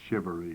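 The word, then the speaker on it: charivari: Shereivery. I think that's how I thought I thought I'd accomplish something when I could spell shivery. generally pronounced shivery.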